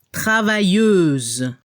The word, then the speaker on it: travailleuse: R al final, travailleur, y al femenino se debe escuchar la Z al final, y no se pronuncia la E al final, travailleuse.